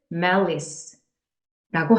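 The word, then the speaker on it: malice: 이루고 있습니다 그리고 다음 단어 malis 이렇게 소리나는 단어인데요 악한 뜻 그래서 악의 또는 원한이라고 하는데요 사람이 마음속에 원한을 품는다는 것은 어떤 대상을 향하고 있겠죠 사람과 사람 사이에 원한을 품는 것을 메리스라고 합니다 자 발음 기억해 주세요 일반적으로 앞에 있는 mal이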